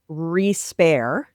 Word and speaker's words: respair: essays, a new term, respair. It's actually an old term. It's a term from England in, the 1500s or something. Respair, spelled like despair, but with an R instead of a D.